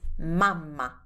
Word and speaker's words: mamma: So if you want, we have a way of saying mom instead, which is mamma.